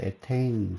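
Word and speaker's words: ethane: 영어 발음으로 에테인 그러는데 C2H6 만약에 탄소가 3개가 연결이 되고 나머지 결합을 전부 수소랑 결합을 했다.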